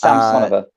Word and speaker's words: Samsonova: It's Samsonova.